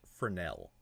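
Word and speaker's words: Fresnel: just for informational purposes it's actually pronounced fernel Fel okay yeah so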